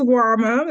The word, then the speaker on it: Nwamah: Please tell me how to say it. It's Nwamah. You were really close.